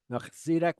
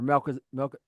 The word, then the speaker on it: Melchizedek: Melchizedek was there, or Melchizedek.